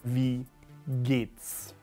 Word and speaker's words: wie geht's: Wie geht's? Wie, charge and release, geht's?